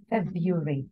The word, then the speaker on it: February: Basically, you're saying February. Yes. Don't go to the most complicated pronunciation. February. No. Yeah, I know it's spelled like that, but no, don't. It's just simple.